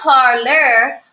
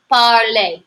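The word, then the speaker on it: parler: I want you to take into account the pronunciation of this er indeed this is not parlor which is what I might want to say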